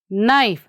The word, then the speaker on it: knife: How we are pronouncing this one? Knife. Here, K we are not saying.